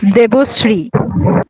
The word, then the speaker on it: देवोश्री: करते जाना है, ठीक है दिवोसिस? बोलो, ओके बोलो। सर। सर इट्स देवोश्री। देवोश्री।